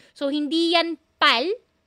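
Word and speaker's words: 팔: Make sure na tama ang pronunciation po natin. Kasi po pal. Hindi yan pal. Pal may hangin. Ang consonant po ng pal aspirated na letter P yan. So pag aspirated po kailangan may hangin.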